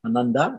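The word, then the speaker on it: आनन्दा: Lakshmi is known by several names, such as Ananda, meaning bliss, Ananda, and a long A at the end here, meaning it's a feminine word.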